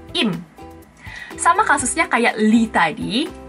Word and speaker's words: Lim: Lim. Di Korea nggak ada yang marganya Lim. Adanya Im.